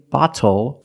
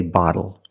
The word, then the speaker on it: bottle: When you see TLE or TTLE, phonetically the T is between vowels. And for this reason, the T changes to a fast D in American pronunciation. That's why we do not say little, we say little. And we do not say bottle, we say bottle.